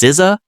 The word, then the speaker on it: SZA: SA pronounced Siza is an American singer and songwriter known for her unique blend of R&B, neo soul, hip hop and alternative styles.